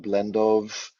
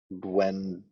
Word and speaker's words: Błędów: So the Polish pronunciation Blendów, Jewish pronunciation Blendów. Actually, with that little mark in Polish, it's Błędów. The L is pronounced as if it is a W. But in any case, Blendów, you can click on